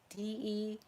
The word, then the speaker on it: Demory: Charity Cunningham, William Dales, Daniel Demory, it's spelled like memory, Demory, Jarrett Dobby, Robert Fuller, Ezekiel Groves, Edward Harris, John Hancock.